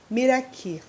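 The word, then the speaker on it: Meraky: Esse canal, essa conta, ela vai se chamar Miraki. Miraki. Se escreve assim, M-E-R-A-K-Y.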